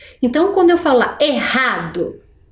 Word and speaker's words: errado: quando eu falo lá errado é ali eu separei a sílaba R com a mas na pronúncia para ter esse som forte eu preciso dos dois RS né errado acertou quem conseguiu identificar